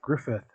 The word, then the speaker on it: Gruffudd: Gruffudd. I will learn how to pronounce it. Well, that's cool. Actually, Gruffudd is pronounced Griffith.